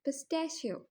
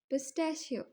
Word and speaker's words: pistachio: पिस्ता पिस्ता को हम इंग्लिश में कहते हैं पिस्ट शियो पिस्ट शियो पिस्ता से पिस्ट शियो अगर आपको यह वीडियो